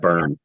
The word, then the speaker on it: Byrom: I want to make It's sure actually I pronounce Burn.